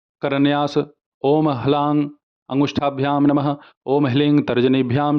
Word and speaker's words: ह्लीं: कुछ लोग इसे हिलिंग कहते हैं, कुछ लोग इसे हिलीम कहते हैं, कुछ लोग हलीम कहते हैं, कुछ लोग हलरीम कहते हैं। सभी अपने जगह सही है, परंतु मैं हिलिंग ऐसे ही उच्चारण करता हूँ, तो मैं आपको यही कहूँगा कि आप हिलिंग ऐसे ही करें।